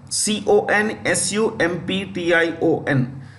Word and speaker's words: consumption: Second thing I want you to know is that TB was in the past called consumption, C-O-N-S-U-M-P-T-I-O-N, consumption, the P is silent.